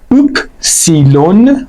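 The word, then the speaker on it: Ypsilon: هر حال باید بشناسیمش حرف بعد اپسیلون که صداش دقیقا مثل او هست یعنی جفتشون صدای او میده اوپ سیلون خونده میشه تلفظش و صدای او حرف بعدی تت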